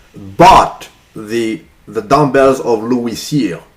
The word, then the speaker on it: Cyr: they were fascinated by a gentleman called Louis Cyr. I'll spell the name for you if you guys want to Google him. Louis Cyr.